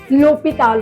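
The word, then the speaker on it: l'hôpital: H mute होता है। तो इसलिए हम एल एपॉस्ट्रोफ एच के साथ भी यूज़ करते हैं। जैसे लोपीताल होता है।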